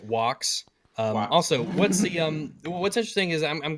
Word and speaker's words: Vox: It's pronounced Wox.